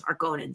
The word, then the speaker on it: Harkonnen: The lighting effects of the Harkonian, I think is how you say that. Sorry, I've read the books, but gladiator fight were very weird though. Boy, are those Harkonnens. It's Harkonnens.